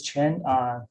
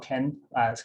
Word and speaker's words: Chen: This is Chen, not Ken. Q pronounces like CH in English.